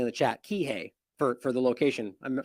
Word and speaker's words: Kihei: I'm much Kihei someone's saying in the chat Kihei for for the location I'm sorry I mispronounced it that that ultimately that we should